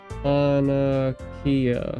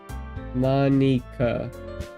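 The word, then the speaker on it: Monika: Monarchia. Monaka.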